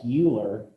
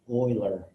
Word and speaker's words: Euler: e is known as Oiler number now it looks like Euler but is actually pronounced Oiler so this is Oiler number he he's a